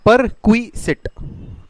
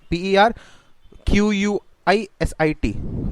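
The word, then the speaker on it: perquisite: जिसको प्रोनाउंस कैसे करते हैं, परक्विसिट, PER QUISIT, परक्विसिट, पर हो जा, क्विट क्विट हो जा, सिट हो जा, ऐसे करके।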